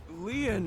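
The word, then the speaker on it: Lien: can i arrest him my name leon is spelled l-i-e-n in french leon means bond just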